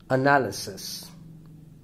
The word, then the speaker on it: analysis: for syllable word attention fourth analysis analysis the stress falls on the second syllable again four-syllable word theft personality